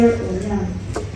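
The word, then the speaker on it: Onyul: Era amannya gaali Zulia Onyang. The name was Zulia Onyang. Please spell that name for Choco. Z-U-R-I-E-L. O, the next name is O-N-Y-U-L.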